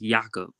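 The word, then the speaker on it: Jakob: free agent next year he's pronounced yaakov Jacob whatever Jacob Jacob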